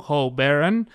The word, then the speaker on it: Ho Baron: And here we're in the house of the extraordinary artist here in El Paso, Ho Baron. Did I pronounce that right, bro?